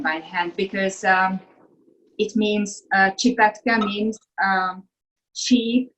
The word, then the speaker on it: Csipetke: How do you pronounce these noodles again? Csipetke.